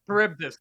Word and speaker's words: Charybdis: Charybdis, thank you.